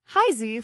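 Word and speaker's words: 孩子: The pronunciation Heisy flows with a rising tone followed by a neutral tone like a child's voice calling out to their parents.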